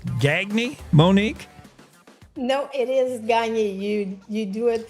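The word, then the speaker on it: Gagné: No, it is Gagne.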